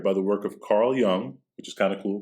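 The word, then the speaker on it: Jung: you're doing that because you know how to say the name the j is a lie and mythographer joseph campbell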